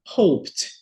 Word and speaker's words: hoped: eu caminhei Hope esperar hoped né esquece letra e e o p não é vibratório né então hoped eu